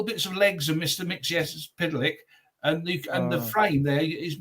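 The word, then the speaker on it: Mxyzptlk: Mixies Pitlick. That's how I pronounce it. It's according to DC, it's Mix L Pitlick. and you just kind of put it together. That's the Golden Age pronunciation.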